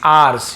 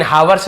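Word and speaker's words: hours: ऑफ 6 आवर्स यानी 6 घंटों का। इसे आवर्स भी पढ़ सकते हैं, आवर्स भी पढ़ सकते हैं, लेकिन हावर्स नहीं पढ़ेंगे, एस साइलेंट लेटर है।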